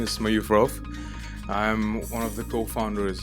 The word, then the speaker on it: Rouf: Am I pronouncing it correct? It's Rouf. Yeah, Rouf.